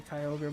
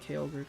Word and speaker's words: Kyogre: you about God now Kyogre or Kyogre however you want to pronounce it I say Kyogre but I just said kogre cuz some people really pronounce it like that I don't know where they get the a from but sure you go